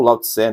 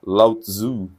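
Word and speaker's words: Lao-Tsé: Tá o Tequin do Lautzu ou Lauté, né? Tem diversas eh pronúncias. Na verdade, o mais correto seria lauté, né? Mas tem gente que fala lauto.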